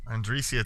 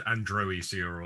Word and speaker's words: Androecia: Andresia, top pronunciation, lads, as well. Excellent. Good work. Beautiful 9. I would have botched the pronunciation if I had to declare first. I would have said Androecia or something like that.